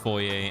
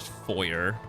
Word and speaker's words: foyer: Although, yes, I do understand that the word is of a French, you know, origin and that's why it is pronounced foyer and not foyer.